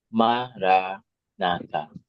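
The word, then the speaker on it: Maranatha: have to do is say the mantra in four syllables of equal stress Mara nata mara na Mar na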